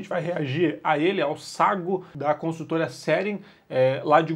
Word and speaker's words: Sagô: área privativa tá aí o nome dele é que sagu é assim que se pronuncia A gente já tem